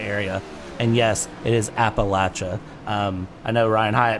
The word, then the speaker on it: Appalachia: the entire Appalachia area and yes it is Appalachia um I know Ryan hayatt messaged me earlier today and said how do you pronounce that Brad and I said well it's